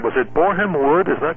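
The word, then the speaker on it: Borehamwood: Talk to us about the MGM Studios, if I'm pronouncing it right. Was it Boreham Wood? Is that correct? Boreham Wood, yeah.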